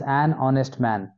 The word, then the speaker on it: honest: Ratan is an honest man. H is silent here.